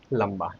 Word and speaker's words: लंबा: पहला शब्द है लंबा। यहां पर म का उच्चारण हुआ।